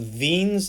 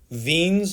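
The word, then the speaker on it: Wien's: a german dude so the w in his name is actually pronounced the german way which means it's pronounced like an english v so this is veen's displacement law and the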